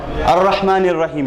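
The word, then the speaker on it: الرَّحْمَٰنِ الرَّحِيمِ: Okay, I'm just saying this so that you know that this particular Hamzatul Wasl is pronounced only because we end at the we end the second ayah, pause, and then continue on to the third ayah.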